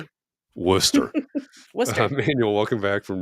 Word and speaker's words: Worcester: It should be like, I don't know what it would Worcester, be. Worcester.